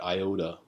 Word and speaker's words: IOTA: And we'll get into the most recent one, the IOTA. So that's the right way to pronounce it.